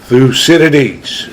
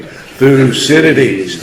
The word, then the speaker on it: Thucydides: who's talking about Thucydides, mostly mispronouncing his name. So 1, 2, 3 in unison, Thucydides. Speak up here. 1, 2, 3. Thucydides. Okay. You didn't learn anything else today. You learned how to pronounce the name of a great thinker.